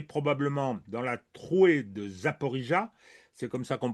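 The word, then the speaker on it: Zaporizhzhia: idée que c'est probablement dans la trouée de Zaporizhia, c'est comme ça qu'on prononce, que des choses importantes, sinon décisives, se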